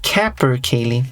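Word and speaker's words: capercaillie: Capercal. Okay. Cap Kapper Kali. There we go. Western Caprice. It gave the pronunciation there.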